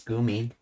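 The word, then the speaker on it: 組: So, it's Kumi, but I guess because of the Tinton word, she pronounces it as gumi.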